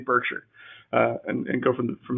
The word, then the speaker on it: Berkshire: now by the way i'm going to use the nebraska pronunciation of this so berkshire is i'm